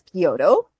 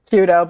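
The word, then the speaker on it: 弓道: But yeah, so the only sport Misha has done is archery standard and Japanese traditional, also known as Kyoto. Did I pronounce that right, Misha? Kudo, but it's okay.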